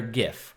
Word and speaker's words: GIF: The reason why I have lowered this is because it's going to make for a better GIF, or GIF if you prefer the peanut butter pronunciation.